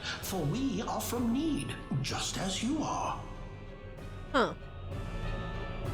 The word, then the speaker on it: Nede: For we are from Nede, just as you are. Huh. Well, I guess now we know how to say it. They say need like mead instead of Nede.